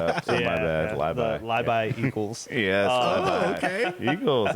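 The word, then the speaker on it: Labay: Yeah, It is Libi, not LeBay. Not LeBay. I jacked that up. Good catch. My son actually told me that, and I screwed that up. So my bad. The Libi Eagles.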